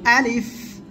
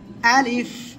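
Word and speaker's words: ألف: সে অক্ষরটা কি আলিফ এই আলিফ অক্ষরটা উচ্চারণ করব কোন জায়গা থেকে মুখের খালি জায়গা থেকে আর শেষের দিকে এসে নিচের ঠোঁটের পেট এই সামনের উপরের দুই দাঁতের আগার সঙ্গে লাগিয়ে হালকা বাতাস বের হবে আলিফ আলিফ আলিফ ঠিক আছে ওকে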